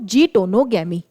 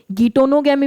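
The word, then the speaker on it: geitonogamy: गिटोनोगैमी भी कई सारे बच्चे और ऐसे बोलते हैं प्रोनाउंस। प्रोनाउंस आप कुछ भी कर सकते हो। जीटोनोगैमी इसको हम लोग कहते हैं या गिटोगैमी जो आपको कंफर्टेबल लगता है आप करें।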